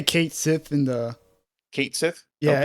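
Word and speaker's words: Cait Sith: meet Kai Kai uh how do you pronounce that I say they say Kate they say Kate Sith in the Kate Sith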